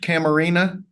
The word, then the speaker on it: Camarina: Is it pronounced Camarina? Yes, sir. All of them Camarina versus.